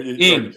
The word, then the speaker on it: Ng: How do you say her name? Naig, Kim NG. The Kim Ing. Oh yeah. Ing.